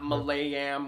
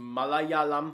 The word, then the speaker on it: Malayalam: Say it with me. Malayalam. It's not Malayam or Malayam. It's Malayalam.